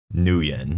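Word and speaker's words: Nguyen: So she pronounced her name Nuen. Nuen. That's how we pronounced it.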